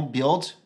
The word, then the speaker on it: build: Donc, par exemple, ne prononcez pas le U dans build, boy, buoyant ou encore buy.